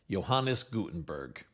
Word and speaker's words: Johannes Gutenberg: Although I've heard it pronounced a few different ways, I usually hear his name pronounced Johannes Gutenberg.